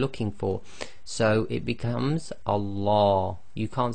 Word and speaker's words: Allah: a preceding sound now if there is a preceding sound there are two different ways that the name of Allah can be pronounced the first one if the word before the word name of Allah it has a casra sound I the last sound before the name of Allah is going to be a casra then we're going to pronounce the Lamb of Allah in a light fashion I so that's light